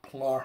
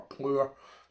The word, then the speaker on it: Plur: tonight and this one is called a pla or plur depending how you want to pronounce that it's a double dry